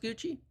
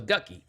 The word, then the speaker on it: Gucci: Is it pronounced Gucci? Yeah. I thought it was Gucky.